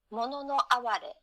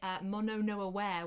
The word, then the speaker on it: mono no aware: Yeah, I was really anglicising it and calling it mono no aware, which is very, very British. Yes, it's mono no aware.